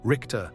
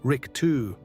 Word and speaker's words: Richter: Four, Richter, the judge. How you say it? Americans say Richter or Richter. Germans say Rick-two with that scraping chin the back of the throat.